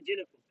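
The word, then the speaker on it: Xenophon: দেখো যে এইবার বলছে জেনোফোন এটা না জেনোফোন না উচ্চারণটা হবে জেনোফোন জেনোফোন কলস হিম এ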